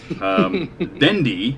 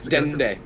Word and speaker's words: Dende: Dendy, is that how you say it? Dendy? Dende.